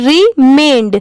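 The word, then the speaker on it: remained: इसकी प्रोनाउंसिएशन है रिमेंड।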